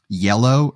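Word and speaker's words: iello: look this up um yellow is the Production Studio but it's not spelled like the color i e l l o uh because I know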